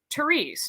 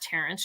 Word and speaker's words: Therese: let me know so therese not terence therese just met a lady